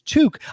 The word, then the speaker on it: toque: going to talk about torque, are you?" You're going to I go, "There's no R in there." He's like, "Yeah, there is. There is." I go, "It's toque."